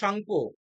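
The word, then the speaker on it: Tsangpo: Yearlong সাংপো। টি এর উচ্চারণ হবে না, সাংপো, ঠিক আছে?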